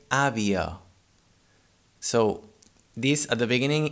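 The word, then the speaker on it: àvia: sound in this case avia is spelled a v i a in catalan here the first ah has an accent an open accent on it so it's the strong syllable it sounds a but the last one it's in a weak syllable and in this case it sounds uh we say avio so this at the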